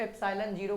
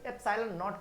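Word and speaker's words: epsilon naught: कोई बच्चा मालूम है इसको एप्सिलॉन जीरो कहता है, एप्सिलॉन जीरो नहीं, एप्सिलॉन नॉट कहा जाता है, ठीक है।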